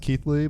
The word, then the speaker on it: Keighley: Keeley yes Keeley that works out it's pronounced Keithley but oh Keithley yeah a lot of people say Keely and I'm not stickler on pronunciation no nice